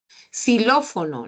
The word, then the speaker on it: xilófono: una palabra con x xilófono no xilófono con x suena como s xilófono pero la x en